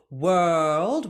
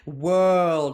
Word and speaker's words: world: in our songs world so open up the vowel and then that consonant cluster has to move very freely with the tongue so world so very tense for the r get the tongue on the roof of the mouth for the L and that D sound for World here's a fun one